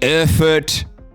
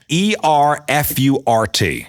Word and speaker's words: Erfurt: So that's E-R-F-U-R-T. I actually went online to try to get the pronunciation. It's German. Erfurt? Erfurt? Yeah, I think that's Erfurt? That's right.